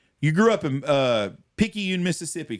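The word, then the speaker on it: Picayune: get off here you grew up in uh pyun Mississippi correct that's right you said it right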